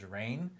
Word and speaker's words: Rainn: Because I try to make it a point to say his name correctly, which is Rainn.